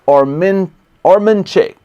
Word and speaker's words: Ormanczyk: And tonight, my guest is Hanna Ormanczyk. Did I pronounce it right, Hanna?